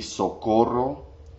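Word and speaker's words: socorro: the word would be so quotable that's where you have to roll your R because it's s o co r ro so called roll say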